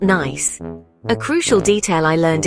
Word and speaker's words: Nice: Fun fact, it's pronounced nice, not nice.